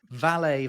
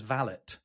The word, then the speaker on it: valet: But here's an interesting one: valet versus valet. Yeah, that is interesting. I say valet. Yeah, and in Britain and in British high society, you would say valet.